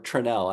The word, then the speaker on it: Tranel: but it could push is it Monica trannel or tranell I'm I'm still learning the pronunciation it's tranel Monica trenell okay I'm gonna